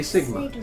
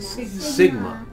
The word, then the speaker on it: sigma: Say sigma. Sigma.